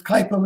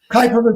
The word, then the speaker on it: Kuiper: Actually, it's not exactly, I'm going to mispronounce it because Kuiper is Dutch. It's Kuiper Belt, something like that. Kuiper is the best most of us can do in the United States.